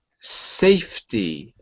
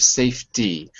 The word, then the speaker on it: safety: you drop the ending you say safet instead of safety or scientific instead of scientific so all all Portuguese speakers dropped endings of the words so just just pay